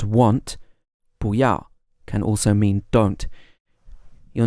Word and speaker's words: 不要: However, when 2 fourth tones come together, the first fourth tone changes to a second tone. So it's actually pronounced as 不要, 不要.